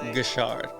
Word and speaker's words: Guichard: only Alicia wait I gotta make sure I'm pronouncing the last name right so correct me if I'm wrong there it is Alicia good Shard all right so for those of you who